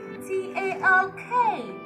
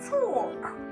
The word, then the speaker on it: talk: The sound made by letter L is not here.